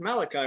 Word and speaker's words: Malachi: was saying it wrong I'm like it is Malachi right yes that's what I thought yeah you